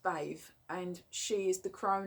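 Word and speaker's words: Badb: all um obviously the crone for morrigan is bathe it's spelt bagged but it's pronounced bathe and she is the crown aspect of the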